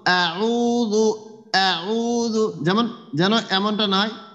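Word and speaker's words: أعوذ: আউযু আউযু, হ্যাঁ আউযু হ্যাঁ, ঠোঁটটা চওড়া করেন তো, ঠোঁটটা চওড়া করে এরপরে একটু শক্ত করে উচ্চারণ করেন তো, হলকের শেষ ভাগ একবারে শুরু থেকে।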